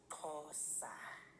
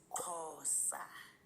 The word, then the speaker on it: Xhosa: It's It's pronounced cos. Okay. That's why I said it's difficult. Like the X basically it's a click. So it's cos.